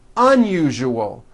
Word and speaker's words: unusual: syllables you jus oh that second syllable jus the one with the underline needs to be voiced put your hand on your throat and feel for the vibration in the second syllable you jus Oh now